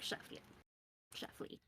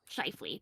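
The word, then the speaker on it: Scheifele: Mark Sheffley, whatever his last name is. Um, Schiffley.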